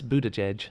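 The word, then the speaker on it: Buttigieg: ER judge no how do you supposed to pronounce it oh it's a it's Buddha Chege Buddha judge sorry no I was pronouncing it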